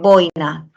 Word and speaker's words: boina: El acento en boina está en la vocal cerrada y en interín en la sílaba rin. ¿Cierto o no? Bueno, va en la O.